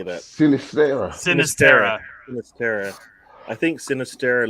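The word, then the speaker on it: Sinisterra: No, I mean, I what I did see, I think I saw Siniesta. How do you say that? Sinistera.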